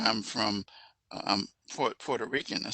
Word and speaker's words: Puerto: would say puerto rico i said no it's not porter it's not p o it's puerto okay am i right yeah